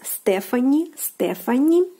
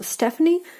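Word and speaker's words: Стефани: Stephanie, again, we see the PH combination here, which will be translated using the F consonant. And this name in Russian will be spelled like this, Stephanie.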